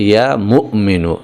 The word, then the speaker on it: ইয়া মুমিনু: বন্ধুরা আমার, এখানে যদিও বাংলা লেখা হয়েছে মুমিনু, কিন্তু আসল উচ্চারণটা হচ্ছে ইয়া মুমিনু। এখানে মিমের পরে একটা হামজা রয়েছে, একটুখানি ধাক্কা হবে এভাবে, ইয়া মুমিনু।